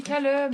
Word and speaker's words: Callum: Je sais pas comment ça prononce. On dit Callum.